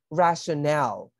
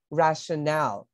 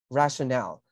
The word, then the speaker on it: rationale: have rationale B and be careful with the pronunciation that's rationale not really rational rationale another common error that